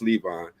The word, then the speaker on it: Levon: I've been saying Levon for all this time, okay, but I know it's Levon.